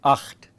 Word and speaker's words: acht: That's why I keep saying acht. Okay, acht, as widely stretched lips as possible, acht. Okay, and as deep from the throat as possible.